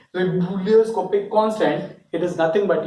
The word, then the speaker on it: ebullioscopic: Now this, like, try to pronounce it like this. It is called ebullioscopic, but in order to remember it, you just remember like this: ebullioscopic constant. Ebullioscopic constant, just like you are feeling vomiting something.